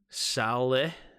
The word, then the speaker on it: Saleh: the touchdown here Tim it's pronounced Sal like an Italian name and eh like Nigerians bring them together Saleh Saleh Saleh Sally so how you want to say it Sally maybe I don't know